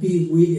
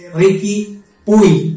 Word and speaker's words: Riqui Puig: Entonces, aquí estaríamos diciendo de que su amigo Peewee está tratando. Peewee, no sé si es Peewee, estoy pronunciando bien. Es Ricky Puy, perdón.